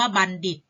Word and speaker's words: บัณฑิต: ออก เสียง เป็น ทรหาร ส่วน คำ ว่า บัณฑิต อ่าน ออก เสียง เป็น เด็ด ค่ะ ดู ฝน ฤทธิ์ เดช